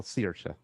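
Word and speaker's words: Saoirse: whatever shawsha well searsha but whatever like seahorse okay somebody wrote okay but it's all also people say sercia like s-i-r-s-h and that's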